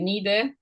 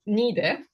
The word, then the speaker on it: Niğde: of urban-rural dynamics of 14th, 15th century Niğde, I will also look at some minor, somewhat more modest endowments at the end of the lecture.